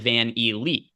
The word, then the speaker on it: VanVleet: As Emac is in the YouTube chat saying it is pronounced Fred Van Elite.